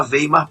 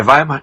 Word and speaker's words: Weimar: vocês me desculpem Tá eu vou falar veimar pela forma como se escreve é Weimar né É vaimar então tudo bem então